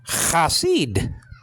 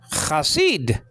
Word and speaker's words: Chasid: Okay, Chasid. Chasid. The lexical form is spelled out chet with the kamet, so there's cha.